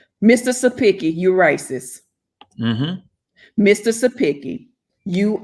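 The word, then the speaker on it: Cepicky: bill that was disgusting c e p i c k y and i think they pronounced it as supiki mr sapiki you racist mr sapiki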